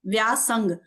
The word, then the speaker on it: व्यासंग: व्यासंग, spelling मैं English में बता देती हूँ। व्यासंग, VYSANGA, व्यासंग।